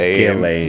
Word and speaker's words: Ghislaine: How do you pronounce it? Ghislaine.